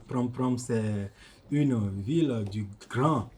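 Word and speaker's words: Prampram: pr pr au Gana effectivement vous avez bien prononcer Prom Prom au Ghana Prom Prom c'est une ville du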